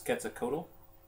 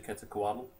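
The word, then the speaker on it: Quetzalcoatl: And uh most people pronounce this ketakotal. It's actually keta kuaddle.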